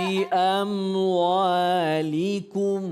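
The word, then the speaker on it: بأموالكم: Bi amwalikum, bukan bi amwalikum, bukan qaf tapi kaf. Bi amwalikum.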